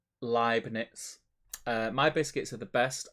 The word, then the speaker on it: Leibniz: Frederick says, not Leibniz. Pronounce it like lie in the beginning. E-I in German is pronounced I, like Eij in Dutch.